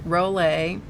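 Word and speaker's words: Rollé: The Rollet, which is R-O-L-L-E with a accent on the E, Rollet.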